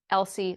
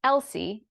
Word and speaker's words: Elsie: the Mad tea party Elsie Lacy and Tilly were stand-ins for the little sisters Elsie e-l-s-i-e but pronounced l-c was a representation of